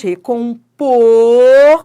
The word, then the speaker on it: recompor: Ó, café é timbre aberto, mas recompor, ó como o timbre é fechado. Você não fala recompor, você fala recompor.